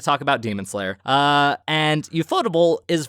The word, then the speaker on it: Ufotable: Or UFO table, as some people call it, because that's how it's spelled. Oh, okay. Pretty dang sure it's pronounced ufotable, but that's just me.